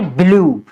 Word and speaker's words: BLUE: उसके बाद में है लास्ट में अगर यू ई आता है, तो ऐसे शब्दों में हम हमेशा यू ई का उच्चारण बड़े ऊ की मात्रा से करते हैं। जैसे ब्लू, BLUE, इसको हम क्या पढ़ेंगे, ब्लू।